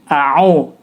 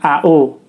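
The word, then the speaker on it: أَعُوذُ: di terletak di sini aau ya bukan ao itu kesalahan pertama ketika membaca lafadz Ta'awudz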